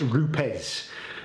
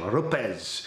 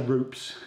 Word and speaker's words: Rupes: haven't but it's pronounced RZ so that's the Italian pronunciation RZ so I can't get it right so if I say rupes forgive me um what